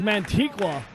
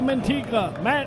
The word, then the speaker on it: Mantequilla: His name is Mantequilla. We'll call him Manny for short. Mantequilla. He's the Lucha hero. You can pronounce that better, maybe in Spanish.